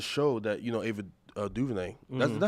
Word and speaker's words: DuVernay: I had to, So as the show that, you know, Ava DuVernay, is that how you pronounce her name?